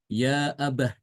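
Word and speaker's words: يَا أَبَتِ: wakaf di sini ya maka bacaan Ibnu katir adalah dengan ee tanya itu dibaca dengan Ha Ya abah ya Abah sama kayak kita menyebut ee Ayah gitu ya kalau dalam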